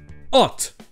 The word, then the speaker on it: ought: Hot. Et j'en avais parlé très rapidement dans l'épisode sur la prononciation de la syllabe OUGH. Et pour ça, j'avais mis 7 extraits du film The Dark Knight. You ought to know, you bought it.